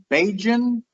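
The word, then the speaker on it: Bajan: the locals describe themselves is it pronounced beijing okay that's what i figured it was because i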